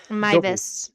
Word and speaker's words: Meiwes: I know it does look like it does come out that because he's German, his last name W's are V's. Yeah, W's are pronounced as V's. That's right. Mvis.